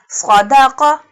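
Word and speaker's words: صَدَقَ: Qaf pronounced boldly. Sadaqa.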